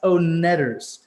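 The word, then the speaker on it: Oneders: song and movie one-hit wonder the heat like full-on one-hit wonder that thing you do the o-neders the own leaders not the Wonder Co net is pronounced own netters I don't think we're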